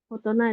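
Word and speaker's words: 大人: Tapi kan kanji oki ini cara bacanya hanya ada 3. Oki, dai, sama tai. Terus kalau yang ini nggak ada gitu ya, nggak ada cara baca yang oki, dai, atau tai gitu. Tapi malah otona. Jadi ini memang pengecualian gitu. Kalau untuk kanji cara baca ini jadinya otona gitu ya, otona.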